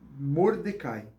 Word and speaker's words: Mordecai: e prima de mar Mordecai ou mardoqueu pronúncia as duas pronúncias aí é aceitável segundo as minhas pesquisas os